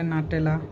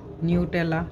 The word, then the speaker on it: Nutella: নেই, সবাই লাইক করে নাটেলা, নিউটেলা, কেউ নিউটেলা বলে কেউ নাটেলা বলে, যে যেভাবে প্রোনাউন্স করে, খুবই মজার নিউটেলা নাটেলা।